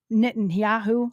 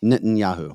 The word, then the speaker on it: Netanyahu: the how how do you say his name nittan yahu oh n Netanyahu yeah nitan yahu there's a special about him on Fox Nation